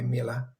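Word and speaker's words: Miele: I think it was Mila. And I came in. Pronunciation there, by the way, Mila.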